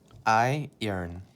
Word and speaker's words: iron: you say ironed so the way to pronounce this word is I I earn maybe i urine i